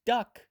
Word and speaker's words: DUKW: The first widely used amphibious truck, called the DUKW, pronounced duck, was used to transport troops in World War II.